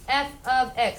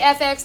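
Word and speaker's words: f(x): we're gonna call it function notation this is pronounced f of X stay with me yeah don't say FX don't say F times X don't say F parenthesis X so that's not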